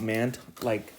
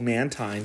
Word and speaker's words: Mantine: Like I always thought Mantine, the manta ray Pokemon. I thought it was always called Mantine, but then I learned it was called Mantine. I was like, what the? Mantine?